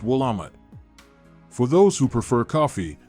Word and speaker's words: Willamette: south of Portland and has over 200 Vineyards pronounced willamat for those who prefer coffee the city has